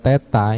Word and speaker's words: theta: Terus 1 plus tan kuadrat theta, ini dibacanya theta ya. 0 yang dicoret ini dibacanya theta. Kalau belum yang tahu, itu hasilnya secant kuadrat theta.